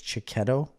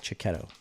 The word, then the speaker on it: Checchetto: I think it's Cicchetto. It's Checchetto. Cicchetto.